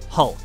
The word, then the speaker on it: HULC: human universal load carrier or hulc pronounced like hulk these were designed for